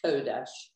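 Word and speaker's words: קֹדֶשׁ: The only one, the third word in line three is Kodesh. There's a dot on the top.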